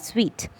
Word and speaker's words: suite: suite would be s-u-i-t-e would be pronounced as sweet okay suite would be